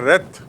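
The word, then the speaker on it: wreath: एंड to rhythm माने उच्चारण देख लीजिए टू रिद जब वो क्रिया होती है तो रिद रिद माने गुथना और रेथ माने फ्लावर का गुच्छा जो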